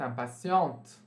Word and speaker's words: impatients: Les femmes du signe du bélier sont impatientes. Existe alguma diferença no masculino singular e masculino plural? Não. Né? Vocês pronunciam isso impatient e isso aqui impatient também.